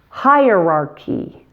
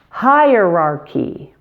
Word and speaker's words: hierarchy: The CH in this word is pronounced K. Hierarch. Hierarch. And the final Y is E. Hierarchy. Hierarchy.